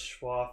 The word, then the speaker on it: Schwa: Or is it Schwa for now, or is it Shue for now? No. I've been typing it out, and a lot of people have just been pronouncing it as Shue. No, it's Schwa for now.